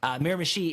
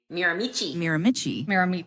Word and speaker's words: Miramichi: Miramichi is an indigenous name, so I don't know if there people have trouble pronouncing it. Miramichi, Miramichi.